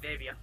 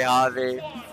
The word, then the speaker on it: Javi: Remember when I first met Hobby, I mispronounced his name so wrong. Sheesh. I still call him Davia. I'm sorry, Javi.